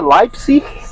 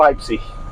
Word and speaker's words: Leipzig: Não, se pronuncia Leipzig ou Leipzig, dependendo da região. Sim. Eu pronuncio Leipzig, Sim. com R no final, né?